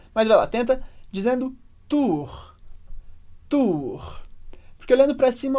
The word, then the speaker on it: tour: Agora, atenção com a pronúncia de Tour Eiffel em francês. Então, primeiro, a gente tem a tour, que é a torre. Vai, repete comigo, tour. E muita gente pergunta, Felipe, como que é essa pronúncia do R? Parece difícil. E é diferente, claro, mas ajuda muito se a gente olhar para cima no início para se acostumar ao som.